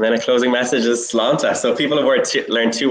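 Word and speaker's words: sláinte: Slánta. You know what? I must confess, I've never known quite how to pronounce slánta. But slánta, yeah. Exactly. You're bang on.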